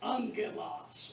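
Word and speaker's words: ἄγγελος: But when two gammas come together in a word, like angelos, angel. When two gammas come together, a gamma is pronounced N-G.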